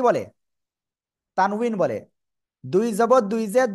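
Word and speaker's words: تنوين: ওকে, যাই হোক, তানভিন, তানউইন, উচ্চারণটা হবে তানউইন, ঠিক আছে?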